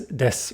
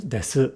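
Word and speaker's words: です: This is why des is said as des rather than desu, because there isn't a sound, a voiced sound, that comes after the su.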